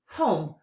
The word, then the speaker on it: home: Home. Tap out the sounds you hear in home. What did you notice? If you're looking at the screen while you're blending, you noticed it, right? There's a silent letter.